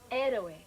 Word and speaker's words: héroe: How do you pronounce it in Spanish, Mary? Héroe.